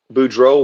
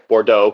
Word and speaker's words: Bordeaux: turns uh is a budro wine bordeaux correction a bordeaux wine I said budro Um, budro.